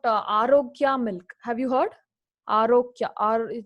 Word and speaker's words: Arokya: Arokya. It's actually Arokya, but they pronounce it as Arogya.